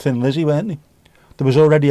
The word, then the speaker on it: Thin Lizzy: There was already a band called Tin Lizzy and they just went call ourselves Thin Lizzy because you pronounce Thin Lizzy as Tin Lizzy in Ireland. Anyway, that's the why.